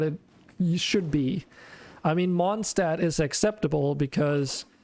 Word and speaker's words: Mondstadt: So the first area that you arrive to has the main city called Mondstadt, which is German and actually pronounced Mondstadt, which is just translated to Moon City.